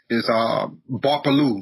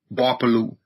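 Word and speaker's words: Gbarpolu: So my county is referred to as Barpolu, spelled with a G. The G is silent. G-B-A-R-P-O-L-U, Barpolu. So Barpolu County, and then my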